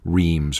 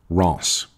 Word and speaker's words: Reims: another city whose name though it looks to english-speakers like it should be pronounced Reims or REMS the French actually pronounced something like Ross more or less Epernay